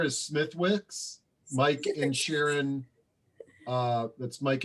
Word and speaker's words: Smithwick's: So I guess the last one is what popular light beer is pronounced without the W? Somebody answered it. Oh, they did? Oh yeah, Smithwick's.